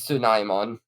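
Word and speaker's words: Tsunomon: I think it is pronounced Sneemon. It probably is. Let me check. Oh, I know it is Tsunaimon, Oh, okay.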